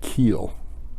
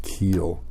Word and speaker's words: Kuhl: cool actually in that area they called it keel so Koh I was pronounced keel which moves the phonetic pronunciation of Koh Oh